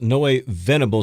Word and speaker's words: Noe Venable: Yeah, and that's Noe Venable, so that's Noe, and then Venable. So for those who are wondering how that's spelled, Noe Venable.